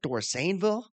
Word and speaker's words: Dorsaneville: Is that how you pronounce that? Dorsaneville. Yeah, that one sounded better. The first one there's a little too much pronunciation on the a.